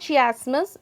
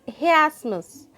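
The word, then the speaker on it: chiasmus: pronounce with me students it's not she Asmus it is he Asmus he asked miss means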